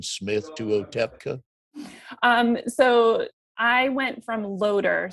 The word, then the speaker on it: Otepka: Yeah, it's that TP combination that really throws people. Otepka.